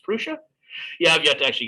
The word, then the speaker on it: Prusa: i think it's also printed or no actually pronounced prusa yeah i've got to actually get a defense